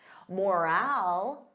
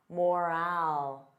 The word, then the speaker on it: morale: Morale. Repeat after me. Morale. So notice that long.